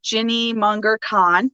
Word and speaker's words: Ginny Munger Kahn: All right, so this is episode 6, I believe now, and we have Ginny Munger Kahn, right? Is that how you pronounce it?